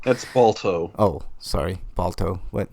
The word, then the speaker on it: Balto: All right, hope that shitty movie Baldo. That's Balto.